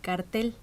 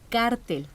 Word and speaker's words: cártel: No se dice cartel, se dice cártel. Ándale. Ahora sí, Bueno, eso es lo leíste bien. correcto, cártel, porque está tomado del lenguaje del estudio de las finanzas internacionales. Muy bien, Graciela.